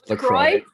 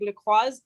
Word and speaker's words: LaCroix: Did they not have LaCroix?